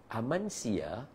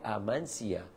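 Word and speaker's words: Amasya: Pertama saya bagi tahu Amansia A M a S y Amasha kalau ejaan dia tapi sebutan dia Amansia.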